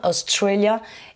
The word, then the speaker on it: Australia: Donc vous avez constaté que Australie, j'ai accentué sur la deuxième, Australia, et même chose pour la nationalité Australian.